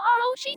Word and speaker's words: Rocher: In French, which the word Rocher comes from, the R at the end of words isn't really pronounced. It's more like a breathy H sound. So yeah, you could say it's silent when us English speakers say it.